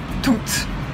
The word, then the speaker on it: toutes: Les formes féminines, toutes au singulier ou toutes avec un S au pluriel, sont toutes les deux prononcées toutes. On entend le T final.